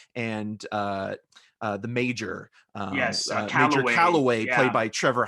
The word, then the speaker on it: Calloway: or does it subconsciously in a Freudian slip, mispronounces names. Oh yeah, because he kept Calloway saying, he calls him right. deliberately Callahan.